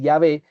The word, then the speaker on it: Yahvé: Y aquellos ancianos que aunque conocían su nombre, que repito, según los estudiosos, la pronunciación más cercana es Yahvé, tenían que entender lo mismo que entendió Moisés.